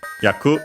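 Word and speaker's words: 役: We check yaku. Okay. Accented on the last syllable which means uh role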